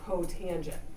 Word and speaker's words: cotangent: And then COT is cotangent.